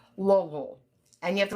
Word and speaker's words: Louisville: We're going to actually be um, training some people from the Juvenile Justice Center in Louisville. And you have to say it like that.